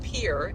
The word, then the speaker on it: Pierre: We are coming on to the capital of South Dakota, which is pronounced Pier, even though it looks like Pierre.